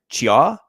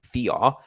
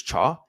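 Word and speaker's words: Thiaw: a bad mistake by Chia, I think is how you pronounce his name. It looks like Thea. I think it's Cha.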